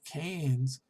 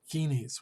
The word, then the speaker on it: Keynes: other words they're not sure and in fact cain's john maynard keynes by the way and uh i know a lot of people pronounce it genies which is ron keynes he really focused on